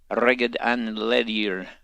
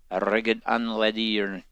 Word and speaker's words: Reged an Ledir: Along with them is Zuvan the Faithful, as well as Reged an Ledir. And trust me, that's how you pronounce it. Reged an Ledir.